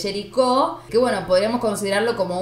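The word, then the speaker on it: Géricault: A ver, vamos de vuelta con la pronunciación del francés. Lo dije bien. Jericho. No sé cuál es la correcta. En este caso para mí es Jericó. Acuérdate que la T no va. Listo. Entonces, es Jericó, que bueno, podríamos considerarlo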